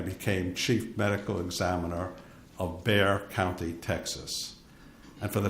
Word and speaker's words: Bexar: In 1981, I became chief medical examiner of Bexar County, Texas. And for the transcriber, Bexar is spelled B-E-X-A-R. The X is silent.